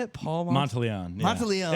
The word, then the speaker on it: Monteleone: Paul Monteleone. Yeah. Monteleone. It's fine. Monteleone is like, I think, the real Italian way to say it.